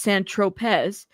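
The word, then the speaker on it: Saint-Tropez: Agniflo says, "When you bought the eightball of Coke on uh San uh Tropz, pronounced San Tropz, you didn't call Mr.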